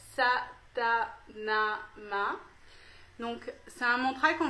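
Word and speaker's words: Sa Ta Na Ma: un mantra qui s'appelle qui se prononce ça t'a n'a m'a donc ça a montré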